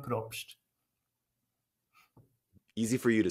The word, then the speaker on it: Probst: correctly for me you you want the Swiss pronunciation sure sure that's props easy for you to